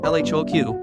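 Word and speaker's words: L.H.O.O.Q.: name of the piece l h oq is a pun the letters pronounced in French sound like elado she is hot in the ARs or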